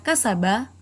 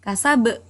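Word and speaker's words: كسب: Tulisannya kasaba tapi membacanya kasab. Kenapa kasab? Karena ba termasuk salah satu huruf qalqalah. Sedangkan dia berada di akhir ayat yang mati karena waqaf.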